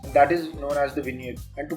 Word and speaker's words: vignette: This is pronounced as Vignette and not Vignette.